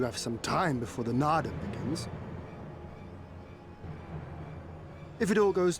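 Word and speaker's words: Naadam: Keep saying Nadi. Need to pronounce it. Nardam.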